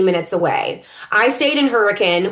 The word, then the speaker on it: Hurricane: Option 2, stay in Hurricane, about 25 to 30 minutes away. I stayed in Hurricane, which by the way is spelled like hurricane, and yet don't say it like that.